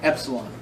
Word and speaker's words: epsilon: Except this is called an epsilon. Can you spell that? E-P-S-O? No, E-P-S-I-L-O-N. E-P-S-I-L-O-N. Epsilon. It's pronounced like a short E. All right, like N. E-N, like end. Like the word end.